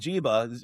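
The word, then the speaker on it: Njigba: and yeah, but he's got Smith and Jiba or in Joba. How do you say his name? The wide receiver for the Smith Seahawks. and Jigba.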